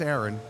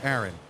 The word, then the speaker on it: Aron: and your name is I know it's Aaron but it was spelled differently so I'm make sure I'm pronouncing it right it's it's Aaron my grandmother calls me